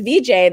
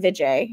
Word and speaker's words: Vijay: i just was like i can't mispronounce my own name anymore that was the turning point for me was i can't say my name is vj anymore and i and um and then all these people who had known me as vj they suddenly i was like uh i'm vijay and so it was